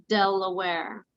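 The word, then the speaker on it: De La Warr: british general thomas west lord day loire now pronounced delaware but some never left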